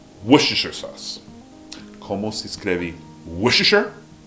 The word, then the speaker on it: Worcestershire: vira Worcestershire.